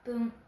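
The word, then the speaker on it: ぷん: Pour dire 2 minutes, 5 minutes, 7 minutes et 9 minutes, on prononcera fun. Donc 2 fun, 5 fun, 7 fun, 9 fun. Et pour tous les autres, on dira pun au lieu de fun.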